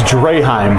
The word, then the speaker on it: Draheim: Yeah, it's Draheim. Draheim. Yeah, right. Draheim is how you pronounce his last name.